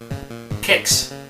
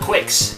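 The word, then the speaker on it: Qix: Kicks. It's not Quicks. There's no U there.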